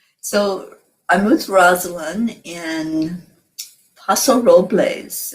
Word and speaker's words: Paso Robles: i'm with rosalind in paso robles am i saying it right well i they would say el pas there's a sign when you drive into the city it says el paso de robles and oh robles real